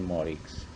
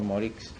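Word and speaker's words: Moricz: primer término a la personalidad del señor Juan Morix. El apellido Morix es un apellido húngaro, magiar. Se escribe M-O acento R-I-C-Z.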